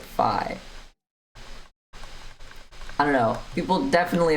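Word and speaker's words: phi: Fe like EV uh Fi Fi Fi every single lecture see I literally called it fee it's pronounced fi this thing F rhymes with pi oops that's not it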